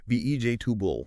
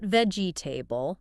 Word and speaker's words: vegetable: Those middle sounds, those vowels, they reduce a lot. It becomes more like VJ tubul. VJ tubul. Three syllables. Three syllables. That e after the g and the a right before the b. They pretty much get swallowed or become just a really quick quiet h.